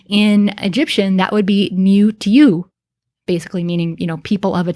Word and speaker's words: niwt: There aren't a whole lot of words that are spelled niwt, which is how we would pronounce this in modern times.